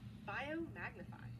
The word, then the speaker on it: biomagnify: Biomagnify. It rhymes with multiply.